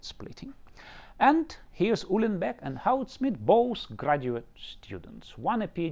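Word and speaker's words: Goudsmit: And Houtsmit is pronounced with an H because he was Dutch.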